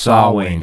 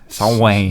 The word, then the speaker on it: Samhain: In Gaelic, M and H make the W sound. Oh, so it's spelled Samhain, but it's pronounced Samhain.